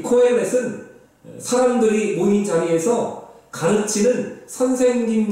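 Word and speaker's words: קהלת: 전도자라는 말은 히브리어로는 코헬렛이라고 발음하는데 이 코헬렛은 사람들이 모인 자리에서 가르치는 선생님 같은 그러한 존재를 말합니다.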